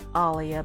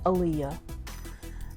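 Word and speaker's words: Aaliyah: one about Alia and I say Alia because that is how she pronounced her name not Aliah I didn't watch the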